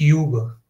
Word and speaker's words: übe: But normally, if you want to say this, you say it like you say "ooh," and it should be, you know, how do you say "few"?